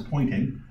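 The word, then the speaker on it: Poynting: the pointing vector actually the name of the gentleman who discovered is actually just pronounce pointing I evaluate the the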